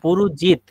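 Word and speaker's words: পুরুজিৎ: হয় খুব ভালো হবে পুরুজিত এখানে জ হবে আপনি মনে হচ্ছে অন্তস্থ মত উচ্চারণ করছেন তারপরে এখানে স্ট্রেস দিবেন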